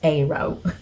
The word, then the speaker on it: aro: It is pronounced arrow.